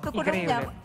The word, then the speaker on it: Tucuruña: ¿Cómo se dice? Tucuruña. Eso mismo, Tucuruña. Bien pronunciado.